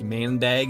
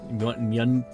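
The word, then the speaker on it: maandag: Is Is it not like Do you guys not really pronounce the A's right there? So, it's not like mandag. It's like mundig. Mundig. Something like that.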